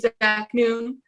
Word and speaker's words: Zaknoun: It's Zaknoun. I know it's spelled Noun. I know, but it's pronounced. So.